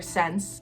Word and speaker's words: Ssense: So Polyvore was bought up by the Canadian retailer Ssense. Yes, it's spelled like that. No, it makes no sense.